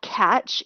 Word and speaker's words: Katch: There is a service called Catch. It's spelled Katch, catch.me, and you sign up for it.